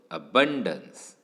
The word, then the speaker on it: abundance: Stress is ऑन the second syllable. So abundance, abundance. So you will realize that the first syllable is very weakly uttered, whereas bun या पार्टवर